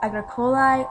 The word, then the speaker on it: agricolae: So their A goes from an A to an AE, and it's pronounced like I for the plural in the nominative case.